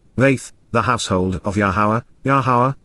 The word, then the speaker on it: Yahowah: the household of Yahowah, Yahowah, the proper pronunciation of Yahowah, our Eloah, God has